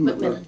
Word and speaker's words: McMillan: That's the right pronunciation, McMillan? McMillan, yeah.